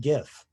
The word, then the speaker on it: GIF: know where i stand in my politics it's pronounced gif and worse than that it's okay to put